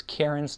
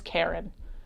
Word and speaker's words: Kieran: And that was the moment where we chose Kieran's name because it was the name of a beer that I randomly picked in Cheesecake Factory. I regret every New Englander who pronounces Kieran as Karen.